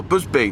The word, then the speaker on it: Busby: name wrong as well Busby well except what it is is my my name is actually Busby but when it's converted into Japanese it comes out as bubi that's now I'm going